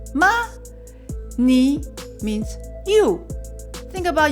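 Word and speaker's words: 吗: means how are you how do you say the ma you go up yeah go go up so that's a question mark right so ma ma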